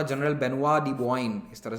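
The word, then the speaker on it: Benoît de Boigne: लिए रखा था, तो इनका नाम था जनरल बेनुआ दी बोआइन, इस तरह से प्रोनाउंस किया जाता है, ठीक है।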